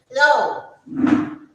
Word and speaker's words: Frau: Now the next word is Frau.